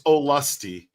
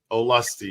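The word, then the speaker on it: Olustee: By the way, it's Olusty. Got it. Olusty is how you say that.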